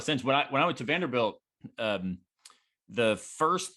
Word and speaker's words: Vanderbilt: distinguished gates at, Vanderbilt, where everybody pronounces it with a long A, right? And I was walking into the department. First person I met was finishing his PhD there at Vanderbilt in philosophy, but he